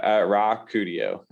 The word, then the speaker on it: Rakudio: Now, Rakudio is how it's pronounced.